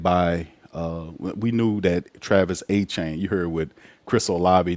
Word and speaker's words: Etienne: That's not how it's said, especially down here. I went to a school that was called Etienne.